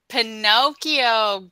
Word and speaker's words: Pinocchio: English name mm-hmm yes every time he tells Pinocchio good okay good I heard Pikachu Pikachu no